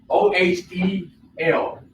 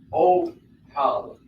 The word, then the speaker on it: Ohel: O-H-E-L. Ohel. Ohel. Or O. It can be pronounced O because the O sound here and the ha or the hey, Ohel or ha.